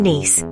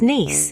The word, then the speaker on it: Nice: Fun fact, it's pronounced nice, not nice.